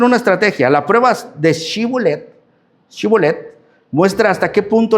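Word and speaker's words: Shibboleth: Entonces le decían, "Si pues di pues la palabra cibolet, chibolet. Shibolet." Pero él decía cibolet, no chibolet, porque no podría pronunciar correctamente.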